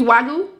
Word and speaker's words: wagyu: their food is really they they only use wagyu that's how you pronounce it yeah all right so let me